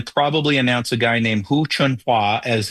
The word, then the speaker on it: Hu Chunhua: Hu Chun Mao? Hu Chunhua. Oh, Hu Chunhua. Hua, or H-U-A for the last syllable there.